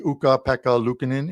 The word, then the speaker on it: Ukko-Pekka Luukkonen: And for TJ Salvador, who's going to probably pop into our live chat, it should be Ukko-Pekka Luukkonen in goal tonight. There, I pronounced it once again for you, but it